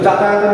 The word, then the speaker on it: যাতায়াত: যদি বর্গীয় জ এবং অন্তর্জ থাকে, যেমন আমি যদি বলি বর্গীয় জ এবং অন্তর্জ থাকে, তাহলে সেক্ষেত্রে কিন্তু অন্তর্জ হবে না, হবে বর্গীয় জ। যেমন আমি যদি বলি যাতায়াত, তো যাতায়াতের উচ্চারণ কি হবে? যাতায়াত, বর্গীয় জ হবে।